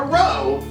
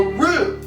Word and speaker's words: roux: No, not a row, a roux.